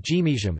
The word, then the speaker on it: gimiizhim: it is word final, the root final n changes to zh, e.g., mean, to give something to someone, but gimijam, you guys give it to me.